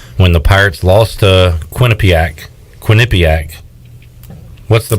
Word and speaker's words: Quinnipiac: When the Pirates lost to Quinnipiac. What's the pronunciation?